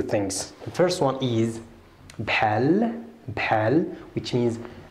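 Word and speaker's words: بحال: Bhali, bhal, please try to b-ha-ha, like the one in Muhammad.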